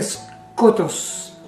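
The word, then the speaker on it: σκότος: La palabra oscuridad o tinieblas o tenebroso, sombrío, en griego se pronuncia skotos y en hebreo hochak, una palabra bien compleja para pronunciarla.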